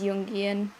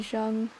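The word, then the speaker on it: Jungian: Yes, it is Yungian. I I know I'm saying it wrong. Somebody corrected me already. I am I am very used to saying Jeang.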